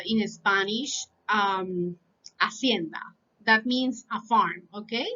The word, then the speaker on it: hacienda: So, for example, we say in Spanish, hacienda. That means a farm, okay? So, in that case, the ate is silent, silent, okay?